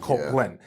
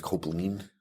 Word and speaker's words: Kopplin: Copeland. Yeah. It's actually, it's German, and it's Copeland.